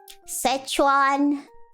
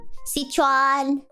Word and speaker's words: Sichuan: Szechuan, how do you say it? Sichuan.